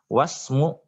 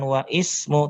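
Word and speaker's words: وَاسْمُ: Wasmu, nah perhatikan cara bacanya di situ. Yang di awal bacanya ismu, tapi kalau di tengah bukan wa ismu tapi wasmu.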